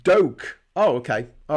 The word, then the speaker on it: Duque: Pronounced Doke.